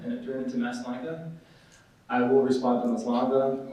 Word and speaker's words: Maslanka: We say Maslanka. It's Polish. I believe the original pronunciation is something along the lines of Maslanka. There's like a little thingy on the S and a little thing on the L.